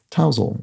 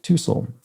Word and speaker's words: tousle: Finally, Dragon Traces points out that the word spelled Tousle is pronounced tousle, like towel, not tousle, or something.